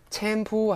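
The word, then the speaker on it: แชมพู: 샴푸는 영어 표현인데요. 그냥 챔푸 하시면 돼요. 챔푸 그죠? 영어 표기 그냥 태글리시로 발음하시면 됩니다. 챔푸 하시면 샴푸고요.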